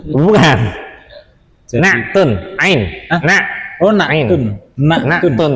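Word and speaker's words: نعت: Naktun. Ain. Nak. Oh, naktun. Naktun ya. Ain ya. Naktun. Tun apa naat Ustaz? Oh, bacanya bahasa Arab naktun. Naat itu bahasa kita. Oh. Di Indonesiakan maksudnya. Iya. Aslinya naktun.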